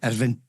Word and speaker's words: Irvine: I've got my niece stays in Irvine, or Irvine, whatever we you say it. In Scotland, we say Irvine, but English say Irvine, and I think Americans say Irvine as well.